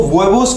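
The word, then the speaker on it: huevos: यहाँ वेबोस, वेबोस हमेशा ये ध्यान रखना, स्पेनिश भाषा में एच जो होता है वो हमेशा साइलेंट होता है।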